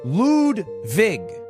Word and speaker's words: Ludwig: My name is Ludwig, but it's pronounced Ludwig.